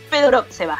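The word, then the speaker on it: Fedorovtseva: Con la verdad es que una actuación gloriosa de Arina Fedorotseva, ¿no? Estaba preguntando cómo era la pronunciación exacta, ¿no? Fedorotseva es exactamente la pronunciación.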